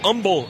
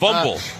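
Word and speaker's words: Humble: 5'11 out of Umble, Texas. You do not pronounce the H. I'd like to thank the somewhere in the neighborhood of 5,000 residents of Umble who have reached out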